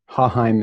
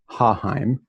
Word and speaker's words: Haaheim: Haaheim is how you say the last name with the emphasis on the first part, Haaheim.